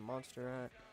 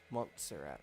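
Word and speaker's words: Montserrat: Change the font back to monsterat. Monzerat. That's how you pronounce it.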